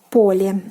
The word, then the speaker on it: поле: So for example, поле. So we have поле. Поле meaning field. The stress falls on the first syllable.